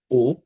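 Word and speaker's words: お: তারপর এটা উচ্চারণ হচ্ছে ও।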